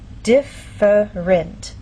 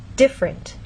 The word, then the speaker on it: different: In very slow, careful speech, and especially formal speech, you might get this pronunciation, different. But often in fast speech, you lose that middle sound and you get different.